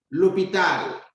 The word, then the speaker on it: l'hôpital: L'hôpital, the hospital. You can see we have a silent H that begins the word.